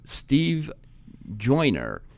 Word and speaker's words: Steve Joiner: His name is Steve Joyner. I pronounced that right?